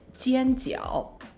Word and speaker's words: 煎饺: And sometimes pan-fried dumplings are called 煎饺. So that's Cantonese, 煎饺, which means pan-fried dumpling. In Mandarin, it's 煎饺, 煎饺.